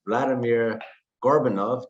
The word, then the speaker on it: Vladimir Gorbunov: We're here with Vladimir Gorbunov. Did I pronounce that correct, Vladimir?